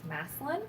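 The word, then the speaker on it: Massillon: Spring Hill historical and you say My Town name as massin okay uh yeah we're weird we don't say it the way it's spelled um so I am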